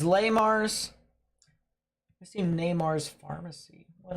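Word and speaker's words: Le Mars: technically you're not wrong technically La Mars it's pronounced La Mars good to know I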